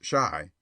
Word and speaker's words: Chi: boy and printer bow Chi pronounced shy by the way is the argot for Chicago a favorite device of